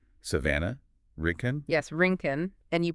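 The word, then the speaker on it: Rincon: Rinken. And you pronounce that Rinken, like the skating.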